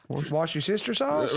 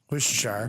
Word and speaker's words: Worcestershire: uses a mikro Ave have you heard the new pronunciation of Worcestershire wash your sister's house well no it's it's a different one it's a it's a worsterer Siri this is a tick tock on it like Sherry dude's like there's 150 000 ways to mispronounce Worcestershire Worcestershire and you couldn't even get that right maybe she's just a